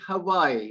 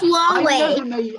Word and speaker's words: Huawei: Ah, well, I pronounce it Hawaii, but I may be wrong. Hawaii? Huawei. Yeah, It's Huawei.